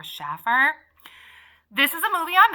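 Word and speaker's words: Shaffer: this is written by Mary Ann Schaeffer is how I think it's pronounced or Schaffer this is a movie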